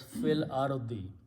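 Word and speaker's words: فِي الأَرْضِ: So now this will be pronounced as fil ardi.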